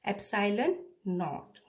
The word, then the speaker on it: epsilon naught: Now, epsilon naught, this symbol, this you will pronounce as, I have written it, pronunciation is epsilon naught.